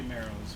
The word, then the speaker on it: Moreau: That's the thing I like about the Moreaus. Marrows. However you want to pronounce it. It should be Marrows, but you can really see where you're going.